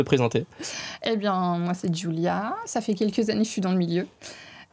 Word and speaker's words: Giulia: Julia, ça se prononce. C'est ça. Et pas ça... Goulia. Ouais, j'allais dire ça, Goulia.